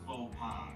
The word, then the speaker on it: faux pas: Oh, Michael, it's actually pronounced faux pas. Faux pas, Fox Pass, I don't fucking care.